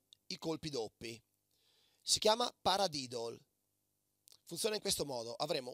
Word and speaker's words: paradiddle: Semplicemente sopra l'esercizio pronunciamo il suo nome. Così. Pa-ra-di-dol.